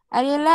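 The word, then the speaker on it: Aurelia: দেখো জেলিফিশ, আরিয়েলা আরিতা, বা এটা অনেক সময় এই ইউ এর উচ্চারণ করে না, রিলা আরিতা বলা হয়, জেলিফিশ।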